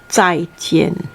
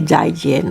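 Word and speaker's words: 再见: it chai chian okay remember this zai this is a pinyin spelling they called zai jian actually in chinese we don't we never say jaijin okay this is only like foreigners okay so if you want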